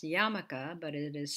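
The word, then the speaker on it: yarmulke: familiar with the yiddish term which is actually pronounced yamaka but it is spelled as you see it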